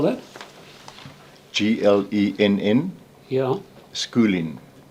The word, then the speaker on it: Schooling: Schooling, as in school, ing.